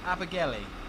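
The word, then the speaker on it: Abergele: It's pronounced Abigaili.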